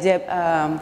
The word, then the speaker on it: Geb: is the first thing you see yep it's pronounced jab not happy not get up I know yep